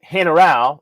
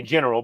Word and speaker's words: General: Yeah, so if you're in San Isidro del General, I say general, but it's pronounced General.